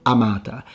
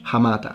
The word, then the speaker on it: hamata: Because in the ecclesiastical pronunciation, which follows Italian rules, the H is dropped, because in Italian the H is not pronounced. So words such as lorica, hamata, is going to sound amata. But we know that the Latins pronounce the H, hamata.